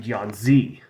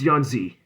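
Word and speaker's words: Yan Zhi: chiu and disariel then John Z well John's she pronounce that last one yeah it's yonzi now its attribute is freeze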